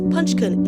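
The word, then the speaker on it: Punch-kun: This is Punch, pronounced Punchkin in Japanese, a baby macak born in July 2025, but was rejected by his mother shortly after his birth.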